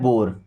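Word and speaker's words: bore: तो इ पहली बात तो साइलेंट रहेगा। लिखिए जो ओ आ रहा है ना तो ओ का उच्चारण ओ की मात्रा की तरह करते हैं। कैसे? ओ की मात्रा की तरह। देखिए जैसे बी ओ आर ई तो इसे पढ़ना है बोर।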